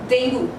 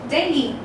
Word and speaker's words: dengue: In the British English, basically we pronounce this particular word as dengue. How do we pronounce? Dengue, dengue. And in the American English, the pronunciation goes this way, dengue, dengue, and not as dengue. So it is dengue or dengue.